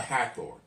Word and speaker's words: Hathor: So this plague was against the cattle, was against the goddess of Hathor. No, it's like Heather, like we would say Heather, but Hathor.